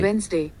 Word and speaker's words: Wednesday: Wednesday. Wednesday. Wednesday. Got it? So you should correct your pronunciation.